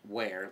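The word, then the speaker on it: weirs: is fishing be it wears and it's pronounced where like where did you go and that is where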